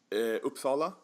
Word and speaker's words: Uppsala: pronounce it? Now, what type of town was that? Is that a larger town? Uppsala.